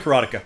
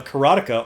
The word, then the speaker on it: Karateka: right there's Cara tika karateka I call the karateka myself this was uh who is that guy